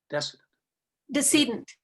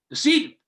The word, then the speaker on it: decedent: Decedent. How do you say that? Decedent. Decedent.